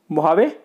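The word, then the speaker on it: Mojave: मोहावे, इसको pronounce किया जाता है मोहावे, पर स्पेलिंग उसकी मुजावे होती है, ठीक है।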